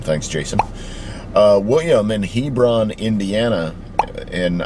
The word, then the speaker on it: Hebron: Uh William in Hebron, Indiana. And I think it's Hebron and and not Hebrron.